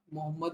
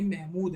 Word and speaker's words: महमूद: हूँ उनके नाम को, ये मोहम्मद नहीं, महमूद हैं, महमूद। ठीक है, ये है मोहम्मद, ठीक है, मोहम्मद घोरी। ये महमूद ऑफ गजनी है, ठीक है। सॉरी मैंने मिस प्रोनाउंस किया।